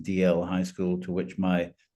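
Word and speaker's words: Dalziel: the local high school Dal DL Dal but pronounced DL high school to which my um father and his sister and brother had gone um years beforehand.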